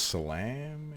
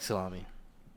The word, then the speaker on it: Salame: Apparently it's Salame. Apparently I was pronouncing it wrong. Anyway, no. Well, I don't know how. It looks like salami.